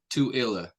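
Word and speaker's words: Tooele: small town is it TOA Utah to so like do like the number two and then IL toilla I need to look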